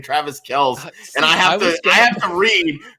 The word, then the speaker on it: Kelce: Yes, my go-to pronunciation is Travis Kelce.